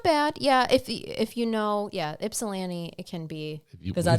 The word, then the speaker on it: Ypsilanti: I read and said correctly Ypsilanti. There you go. That's a good That one. one's That's that tough. one's not bad. Yeah, if you know, Ypsilanti, it can be.